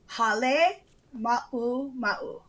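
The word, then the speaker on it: Halemaʻumaʻu: Hale ma'uma'u. Okay, so Hale and Ma No, look like one word. This is on it. Okay. Hale Ma'uma'u.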